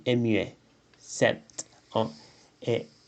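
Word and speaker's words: sept: 7 ans. Et 7 ans, la T se prononce toujours.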